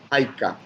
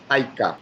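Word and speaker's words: hayk'a: jaik cuánto jaik eh la H se pronuncia muy parecida a la del inglés ya eh la h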